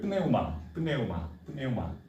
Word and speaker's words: pneuma: 원래 이 시대 발음 그대로 하면 그대로 읽어야 돼요. pneuma.